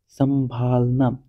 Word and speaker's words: संभालना: मैंने बताया था ना, देखो नाक से कम मुख से अधिक निकलनी चाहिए हवा, ठीक है। नाक से कम हवा, इस उच्चारण में नाक से कम हवा निकले और मुख से अधिक हवा निकले, तो ऐसा कौन सा है, संभालना, संभालना।